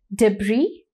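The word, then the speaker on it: debris: body third word is डब्री इसके spellings जो है वो डी ई बी आर आई एस है लेकिन इसे पढ़ते डब्री है इसका मीनिंग है स्कटल्ड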